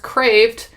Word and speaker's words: Kreeft: last name is pronounced crafed not any other way so kind of a German pronunciation there so that's what we're